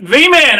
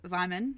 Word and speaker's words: Wyman: I can't pronounce that v-man around for my friends it is Wyman like Simon uh I will show